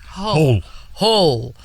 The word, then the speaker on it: Hull: Hull.